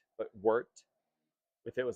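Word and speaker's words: wort: what we call wart w r t not pronounced wart but wart if it was like an e wart is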